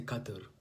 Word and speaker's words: Qatar: who've been to Qatar or should I say Qatar because that's actually a proper pronunciation by the way you know I know